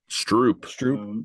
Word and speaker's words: stroop: The way you pronounce it is already Strop, but in Dutch you actually write it with 2 O's. Stroop. Like a Stroop waffle.